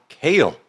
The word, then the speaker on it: Kyle: changed and forever your kale cuz he would say Kyle as sort of with an with a long a uh thank you for